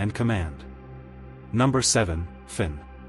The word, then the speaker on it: Finn: Number seven, Finn. Pronounced f y u n, sometimes f i n in English settings.